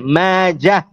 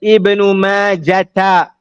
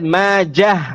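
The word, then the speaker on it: ماجه: Famously known as Ibn Majah, which means that the end of it is a heavy ha, Majah, and is not pronounced as Ibn Majata, which means that the end will be a ta marbutah.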